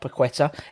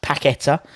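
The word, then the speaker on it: Paquetá: how you spell it it's not pequetta it's pacquetta says um tim wants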